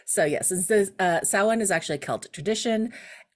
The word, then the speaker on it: Samhain: Isn't it Sam Haine?